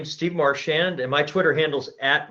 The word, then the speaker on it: Marchand: just introduce yourself sure my name is Steve Marsh and and my twitter handles at Martian Steve spell that out ma r CH a nd s